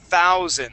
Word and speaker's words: thousand: you see how uh there's a th there at the beginning okay looking over at the chat box here Christian um with that th sound instead of pronouncing only a t you want to stick your tongue okay your tongue that right there between your top and bottom teeth we say thousand thousand